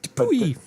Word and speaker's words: Dupuytren: Yeah, but you pronounced it correctly, right? Yeah. Okay. Because Belgium. It's like Dupuy.